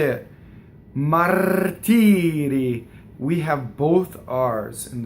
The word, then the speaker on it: martiri: And then the single R is in between two E's, right? So martiri. So one rolled, one flipped.